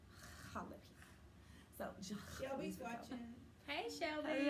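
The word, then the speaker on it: jalapeño: Because you pronounce the J's like H's, Yeah. so Like jalapeno. jalapeno.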